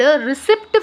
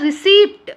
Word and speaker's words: receipt: Here receipt receipt we'll call receipt we will not call the receipt no so we'll call what is the receipt of the thing P will be silent yes P will be